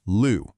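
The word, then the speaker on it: 六: Now, in Mandarin, you'd normally pronounce that Liu, but for this specific tea, from this specific place, nope, it's pronounced Lu.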